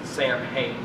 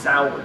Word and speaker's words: Samhain: If you ever see it, it looks like it's Samhain. It's pronounced Samhain.